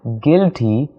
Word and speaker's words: guilty: started crying she felt guilty for making him cry she felt guilty not guilty okay she felt guilty the u is silent so we just don't say the you she felt guilty for